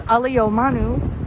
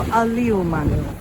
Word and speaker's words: ʻĀliumanu: So today it's known as ʻAliumanu as opposed to ʻAliumanu. So you can hear the slight difference in pronunciation.